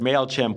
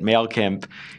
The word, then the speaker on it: Mailchimp: to say the word MailChimp one person mispronounced it mail kimp and then MailChimp smartly